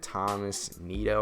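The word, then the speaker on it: Tomás Nido: ahead and got that thomas neato i believe is how you say it moment done i'm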